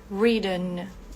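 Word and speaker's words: written: e no particípio reen aqui esse T fica bem suave reiden Ok quase quase um d outro verbo também muito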